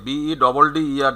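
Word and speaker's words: better: আমেরিকানে বেটার উচ্চারণ করবে ওরা এই যে BEDDER যা হয়, তখন আরটা থাকবে, কিন্তু ওরা টিটাকে ডি উচ্চারণ করে।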